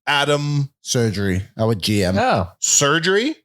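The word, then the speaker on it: Sergerie: surgery our GM yeah surgery yep like as in surgery yeah it's spelled not spelled like that s e r g e r or something s e r g e r i e he was great and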